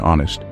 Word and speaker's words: honest: Remember, the K in knee is silent, just like the G in gnome, the H in honest, and the P in psychology.